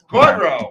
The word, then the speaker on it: Gaudreau: Yeah, Gaudreau.